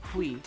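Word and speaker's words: huit: When you say oui, which is eight in French, you don't actually pronounce a T, which I've been doing that. Don't do that. Oui. It's oui, because you don't pronounce a T because it's not careful.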